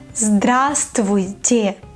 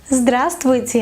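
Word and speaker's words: здравствуйте: period trivia tech move far away hello is grass Tweety grass Tweety a bra straw tea pay attention to the pronunciation Cosmo don't say Bravo stow it sir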